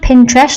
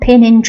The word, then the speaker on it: Pinterest: kid on the Block Pinterest and it is pronounced Pinterest not pinin so for those of you who are listening